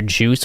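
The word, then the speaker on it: Joos: And I really love our little character Juice, which is spelled J-O-O-S, like this.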